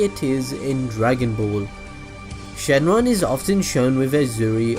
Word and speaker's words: Shenron: Well, Shenron, or Shenlong pronounced in the manga, is named after the spiritual dragon of the same name in Chinese mythology.